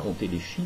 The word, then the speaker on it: entéléchie: Aristote appelle entéléchie, alors ne prononcez pas entéléchie, mais entéléchie, la libre expression, sans obstacle, de la nature des êtres vivants, laquelle signifie l'autodétermination des natures.